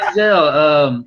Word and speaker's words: Denzel: He said, number one, my father's name is Denzel, but it's pronounced Denzel, and that's the original pronunciation of his father's name.